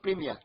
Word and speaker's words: premier: Words in this group include premier, that is first for female. Première. That is, it's not premier. That premier is not premier. Is in English they used to say premier, but in French, premier.